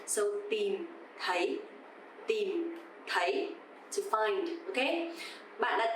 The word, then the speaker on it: tìm thấy: So here you will see two letter T's actually tìm. T standing alone sounds the. It's not like a T in English, of course. But the second one, TH, sounds like the. A bit softer, right? So tìm is dấu huyền, you have to go down, and thấy dấu sắc, you have to go up.